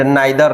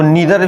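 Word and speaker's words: neither: Also but also आइदर और आइदर और एंड नाइदर नॉर इसको नीदर भी पढ़ते हैं। नीदर नर नाइदर पढ़ सकते हैं। ठीक है?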